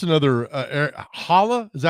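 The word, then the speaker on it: Erik Haula: I hope it's another Holla. Is that how you say his name? Eric Holla, yeah.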